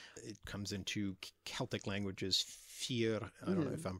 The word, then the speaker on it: fear: It comes into Celtic languages, fear. I don't know if I'm pronouncing that correctly, but yeah, the one that's written on bathroom.